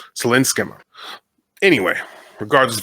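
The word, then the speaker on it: Céline Sciamma: Again, I looked up how to pronounce this and it wasn't exactly right. It's Selen Skma, I believe is how we say that. Sinska.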